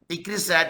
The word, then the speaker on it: ICRISAT: ICRISAT is an acronym. It is not an initialization because we are pronouncing as a one word.